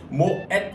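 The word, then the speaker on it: Moët: 그래서 모의 샹동이 아니라 모엣의 샹동이라고 풀네임을 해주시는 게 맞습니다. 자, 아셨죠? 네, 모르셨죠? 전혀 몰랐던 사실인데 모엣 이 불어가 아니고 네덜란드어라는 거 여러분들 꼭 기억해 주시고 모엣까지 꼭 발음을 해주셔야 됩니다.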